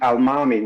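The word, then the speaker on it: almami: as he attributes to al-mami which is a a fulani pronunciation of the term imam al-imam so it's just a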